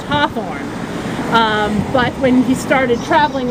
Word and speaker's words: Hawthorne: the New England accent the family name hheh orn he is naturally pronounced Hawthorne but when he started